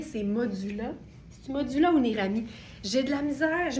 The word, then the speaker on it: Nérami: que c'est franchement formidable, ça s'écrit Neirami. Donc, Nérami avec Nei.